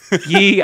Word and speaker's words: Yi: In second place, we have Kuroken, Kawang Chuchi, and Yi. I'm going to stumble a lot. That guy. And it looks just Y, but it's actually pronounced Yi.